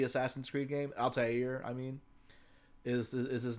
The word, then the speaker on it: Altair: I said earlier that the proper pronunciation of this would probably be more like Altair.